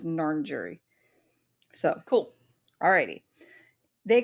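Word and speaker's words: Ngarrindjeri: so the narn jury it is spelled n-g-a-r-r-i-n-d-j-e-r-i and I I did do how to pronounce and it said it was narn jury so cool alrighty they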